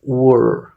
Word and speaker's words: where: ahí como ese TR y una colita es Where fíjate el movimiento okay O puedes considerarlo como que se pronuncie solamente la W y una r también